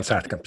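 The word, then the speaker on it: Saatkamp: I'm sorry, is it Satkamp? Is correct pronunciation? Yeah, Herman Satkamp, yes.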